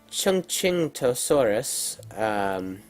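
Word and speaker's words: Chungkingosaurus: dinosaur from this family then we have the Chung King toe Soros I did look up the pronunciation for that Thank You Wikipedia it was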